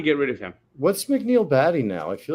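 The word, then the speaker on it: McNeil: McNeel.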